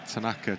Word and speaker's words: Tanaka: CLE here we're getting dramatically conflicting advice on pronunciations for out Tanaka Tanaka so we are back on Tanaka Tonight Tonight Tanaka um so to the small